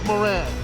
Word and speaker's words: Moran: say, Eric the Smoke Moran. For people that want to know how to pronounce my name, I always tell them, Moran. Mo had ran to the store.